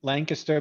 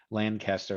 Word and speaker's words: Lancaster: cole grew up in lancaster pennsylvania and i think i pronounced that correctly is that they don't like when you when we say lancaster i think we're supposed to say lancaster there you go before